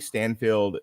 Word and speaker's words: Steinfeld: And I kind of want to start there, because I think Hailee Steinfeld did I'm pronouncing her name right. Steinfeld. Stein, like beer Steinfeld, I think is how it's said.